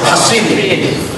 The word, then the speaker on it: Hasin: Suatu ketika ada seorang namanya Al-Hasin, pakai sod ya, kalau pakai sin nanti Husain bacanya. Jadi kalau sod bacanya Hasin.